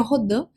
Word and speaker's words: Rodin: Mark Rodin, ou Rodin, como queira pronunciar, o certo seria Rodin, mas vou falar então